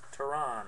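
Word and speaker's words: Teherán: Dylan Bundy, Harris Sepia, Julio Teheran, I believe is how you pronounce his name.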